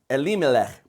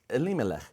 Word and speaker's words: Elimelech: The name of the man was Elimelech. That is how you say it. Elimelech.